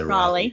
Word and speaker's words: Raleigh: shout out to the let me get the pronunciation rawley i would say raleigh yes uh the royally